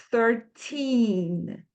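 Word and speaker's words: thirteen: A segunda coisa é que terminando com a letra N, a nossa língua vai ter que acabar no céu da boca, quando a gente for pronunciar. Então, a gente fala 13.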